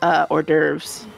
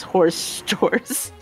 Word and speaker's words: hors d'oeuvres: It's the best way to pronounce hors d'oeuvres is horse doors.